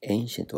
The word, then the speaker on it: ancient: エンシンケルティフェスティバルはいエンシェントは後代のとこだね発音注してねここはエイントね 25 位ですでケルク